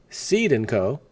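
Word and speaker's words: Cede & Co.: Essentially, the one way everyone owns stock is, number one, and this is the DTCC's fictitious thing, number one, Seed & Co., and that's spelled C-E-D-E, by the way.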